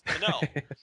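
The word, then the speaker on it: Kenoh: the pr pronunciation is Canó so like Robinson Canó okay so that's how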